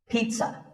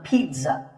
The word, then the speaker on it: pizza: I had this pizza. Really, I did. It's not a pizza and it's not a pizza. There's no z sound in this word. It's pizza, pizza.